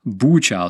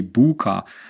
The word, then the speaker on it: Bucha: How the hell do you spell that? Bucha. Some people say Buka.